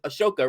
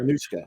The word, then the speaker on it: Anushka: I mispronounced the name. Is Ashoka, right? Yeah. You're attacking her. Anushka.